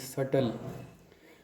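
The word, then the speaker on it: subtle: the next word is सटल इस sorry इस word की स्पेलिंग है एस यू बी टी एल ई लेकिन बी साइलेंट होते है इसको पढ़ते हैं सटल सटल का मतलब हार्ड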